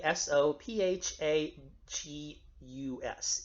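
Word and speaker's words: oesophagus: Greek and ancient Latin it's pronounced like an e sound or like an a kind of sound so I sometimes I'll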